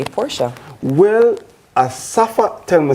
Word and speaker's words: Asafa: Well Asafa tell me say his name is not Asafa it's Asafa. But people just call him Asafa so I'm just saying all right. Yeah they put the emphasis on the wrong syllable.